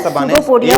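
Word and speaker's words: pseudopodia: सूडोपोडिया English word है इसका, अनवर का विचार अच्छा लगा और तो साइलेंट रहता है, सूडोपोडिया बोलते हैं।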